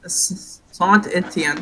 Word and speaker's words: Saint Etienne: Sant Etienne. Yes, that is actually right, guys, I think. The correct French pronunciation.